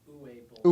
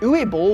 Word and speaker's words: Uwe Boll: I think it's Uwe Boll.